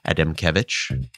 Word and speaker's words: Adamkiewicz: And again, that's the artery of Adamkiewicz. My medical school neuroanatomy teacher would be incredibly proud that I pronounced it appropriately.